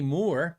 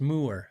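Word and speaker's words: Mooer: hey I got a more more um more more it's pronounced Moore which is uh Chinese for musical ear I did a video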